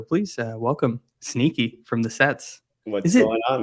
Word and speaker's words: Cets: Is it Sets, Cats? It's Do you Cets. guys Yeah. still say cats? Okay. Yeah. Cats.